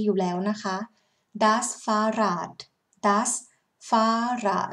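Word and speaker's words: Fahrrad: เลย นะ คะ เป็น does ฟ้า ด แปล ว่า รถ จักรยาน นะ คะ ถ้า เป็น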